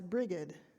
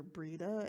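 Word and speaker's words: Brigid: As a pagan UU, with a lot of other influences, I used the pagan goddess Brigade, which is the American pronunciation. You'll also hear Brida and about 5 other pronunciations, as a theological touch point.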